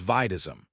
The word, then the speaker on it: Bdism: She was even a step above the rank of major, just below warden who was the colonel, Lieutenant Colonel Bdism, pronounced as Vidism.